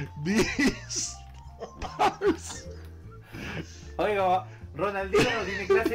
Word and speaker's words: Beastars: Es Beastars. Beastars, Beastars. Búsquelo así. O sea, esta estrella. Beastar. Beastar. Ya, espera. Es bestia, ¿cierto? Ya, partimos bien. Bestia. Beast. Beast. B-E-A-T-Y-Z. Riñón Z. Beastars.